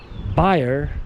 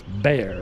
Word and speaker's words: Bayer: It's called Bayer if you speak German, but if you don't speak German, it's Bayer, of course. It depends on where you are linguistically, you know.